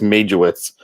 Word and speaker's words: Majowitz: let it happen, and everybody just says Majo, but it's Majowitz is the actual pronunciation of it in but Majo is Majo.